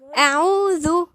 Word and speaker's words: أعوذ: أعوذ، الذال نطلع لساننا فيها لأنها من الحروف اللثوية، الذال والظاء والثاء.